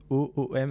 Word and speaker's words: OÔM: Encore une fois, OOM, est-ce que je l'ai bien prononcé? Exactement, Home.